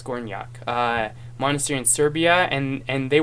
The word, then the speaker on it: Gornjak: And then he felt called to monasticism, and he went to somebody told me how to pronounce it last time. Gornjak Monastery, Gornjak, I think that's what it was. Gornjak monastery in Serbia, and